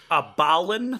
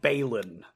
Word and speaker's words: Balin: His name is um Balin, not Balin. Um, please stop calling him Balin.